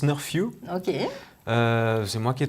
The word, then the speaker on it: Snurfu: bizarre a beaucoup de gens donc ça se prononce nord few ok c'est moi qui ai trouvé le nom